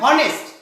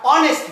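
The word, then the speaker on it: honest: তুমি যদি এইচ এর উচ্চারণ নিয়ে আসো তাহলে কিন্তু উচ্চারণ হয় হনেস্ট, কিন্তু আমরা কি হনেস্ট বলি নাকি আমরা অনেস্ট বলি? অফকোর্স আমরা অনেস্ট বলি। যদি অনেস্ট বলি তাহলে এখানে কিন্তু এই সাইলেন্ট হয়ে গেছে, এইচ এর উচ্চারণ হচ্ছে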